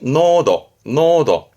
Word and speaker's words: 濃度: 발음은 간단히 노도.